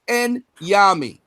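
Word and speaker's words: Onyame: how to pronounce the word. It's Enyami.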